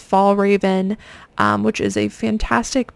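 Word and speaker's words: Fjällräven: on eBay is this I think it's pronounced fall Raven um which is a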